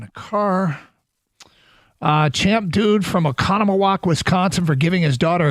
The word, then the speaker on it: Oconomowoc: Laura, apparently they have a cabin in Oconomowoc and sent me she happened to be listening and sent me that it's an easy pronunciation and spelled it out.